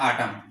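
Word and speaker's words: autumn: यानी पहले तो ये है कि वर्ड का एंड हो और एम के बाद आए तो ये हमारे पास एन जो होता है वो साइलेंट होता है।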